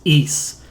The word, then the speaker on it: Ys: of trouble with it just think you're saying geese or like the country of greece but it's just it has no uh has no g in it so you just say it's east east east and there